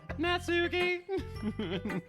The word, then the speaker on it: Natsuki: butt is right now pronunciation it's like the the NAT at the beginning is not near as important as the souk in the middle natsuki oh guys I'm having